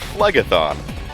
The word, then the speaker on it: Phlegethon: pirate plug athan right it's kyra Phlegethon like phlegm thought a disease hey what is